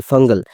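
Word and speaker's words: Fengal: ভারতবর্ষে প্রবেশ করবে উদাহরণত এই ঘূর্ণিঝড়ের নাম সবাই ভুল উচ্চারণ করছে এই ঘূর্ণিঝড়ের স্পেলিং হবে এস ই এফ এ এন জি এল ফাঙ্গাল ফাঙ্গাল যে শব্দ সেটা হচ্ছে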